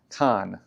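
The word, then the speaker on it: chokkan: able to make a kan, uh, c h o k k a n. Uh, it's Japanese phonetic, so if I'm saying it wrong, give me a hard time in the comments.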